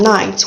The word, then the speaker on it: knight: of wherever you're from okay we also have nights which means opposites of day it's nights already